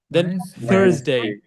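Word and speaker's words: Thursday: Wednesday কি হচ্ছেন থার্সডে যাই এই যে আপনার নিচে আপনার যে জিহবাটা আছে না এই জিহবাটা উপরের মাড়ির দাঁত নিচের মাড়ির দাঁত এটার মাঝামাঝি থেকে একটা সফট সাউন্ড একটা আমরা যদি বলে ফোনেটিক্স নিয়ে কথা বলি যখন সাউন্ডগুলো নিয়ে কথা বলব এটা কনসোনেন্ট সাউন্ড হচ্ছে like thank you think so same ওয়েতে এটাও থার্সডে কি করে থারসডেড ফ্রাইডেড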